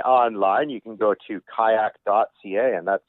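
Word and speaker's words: qajaq: to find me online you can go to kayak.ca and that's spelled traditionally so q a j a q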